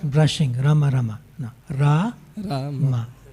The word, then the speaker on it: Rama: Rama. First long A, then short A.